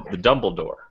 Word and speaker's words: Dumbledore: My whole role in this thing is I'm the Dumbledore with emphasis on the first syllable.